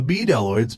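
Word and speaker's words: bdelloids: easily evaporate away the b deloids pronounced with a silent b have evolved a suite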